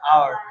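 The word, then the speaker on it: hour: তাহলে এখানে এইচ এর উচ্চারণ হচ্ছে না, হাওয়ার না, এটা আওয়ার। আওয়ার উ থেকে উচ্চারণ হচ্ছে, এখান থেকে উচ্চারণ হচ্ছে,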